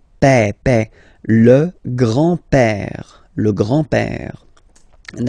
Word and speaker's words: père: Remember, E accent grave like that. It's this opened E. Père.